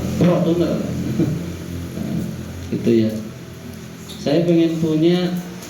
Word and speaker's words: Fortuner: Aduh ngayal, saya ngayal pengen punya mobil Pajero Sprott, pengen punya mobil Fortuner bacanya Fortuner.